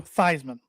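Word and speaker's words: Theismann: Thesisman was his name until he changed it at Notre Dame. Legally changes to Thyman. So it would rhyme with Heisman.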